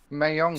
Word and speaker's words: Mahjong: Mahjong. Shanghai. Mahjong. Shanghai. Mahjong. Shanghai. Okay, Hold on, spell I'll- it. Spell it.